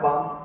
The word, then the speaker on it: balm: झंडू बाम होता है, बाम, BALM। तो हम उसको बाल में नहीं बोलते, बाम, L साइलेंट है वहां, बाम, झंडू बाम, पाम मतलब हथेली।